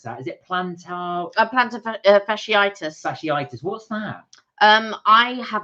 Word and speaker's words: fasciitis: Karina said, I used to do half marathons for fun until I got, I can't pronounce that. Is it plantar? Fasciitis.